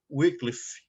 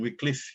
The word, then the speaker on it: Wycliffe: Nós temos essa figura de John Wycliffe. Alguns pronunciam Wycliffe, né? Mas eu aprendi Wycliffe, então eu vou ficar falando Wycliffe.